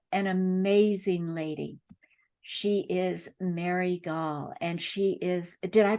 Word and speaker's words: Mary Gaul: She is Mary Gaul, and she is, did I pronounce that correctly?